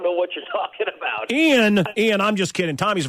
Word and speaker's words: Ian: think I've ever had an interview where someone's pronounced my name Ian so many times so wrong. Yeah, it's Ian Zering. It's Ian.